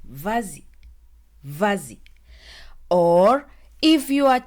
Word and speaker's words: vas-y: movement let's start with vazi V we pronounce it as vazi with the Lio which means go ahead